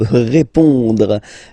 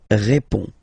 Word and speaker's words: répond: So, final D is not pronounced. You only have this on nasal sound at the end.